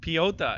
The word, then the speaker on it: Piechota: Piechota is how I just heard Jimmy Smith pronounce it.